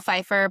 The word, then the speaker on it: Pfeiffer: So, Feifer, but sadly we're not related.